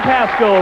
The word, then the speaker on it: Pascal: with a $71 check Pascal rhymes with Rascal holds our little little